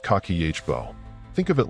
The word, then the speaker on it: kakeibo: A notebook called Kibbo, pronounced kakihbo.